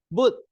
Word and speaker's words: but: many carbon so the boot so this one is not pronounced as butter Mama eat papaya but but it's a boot so this one is